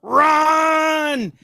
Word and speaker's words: Rahn: And it's with an AH, like because if there's no H, it would be Rand, which people have pronounced my last name before. It's like, no, there's an H in there.